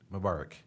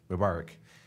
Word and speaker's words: Mubarak: Mubarak. Mubarak.